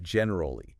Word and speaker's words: generally: The word generally, usually 3 syllables. Like Generally, not generally. Generally.